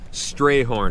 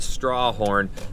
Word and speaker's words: Strayhorn: course we're turning right on Strayhorn don't pronounce it strawhorn this is the divider